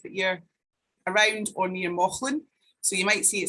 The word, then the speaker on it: Mauchline: So I strongly suggest if that you're around or near Mauchline, so you might see it spelled as Mouchline, but it's actually pronounced Mauchline.